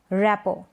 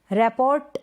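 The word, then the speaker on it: rapport: यहाँ पर भी टी है ना, तो इस स्पेलिंग को हम क्या पढ़ेंगे, रैपो, रैपोर्ट नहीं, रैपो, रैपो।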